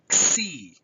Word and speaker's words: xi: On to xi. Xi is an axiom, xi. We have here in xi, this sound has a K and an S together, xi, with an I, a short I sound after xi.